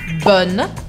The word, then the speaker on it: bon: A única diferença é do masculino para o feminino, que a gente muda a pronúncia. Bon, bonne, d'accord?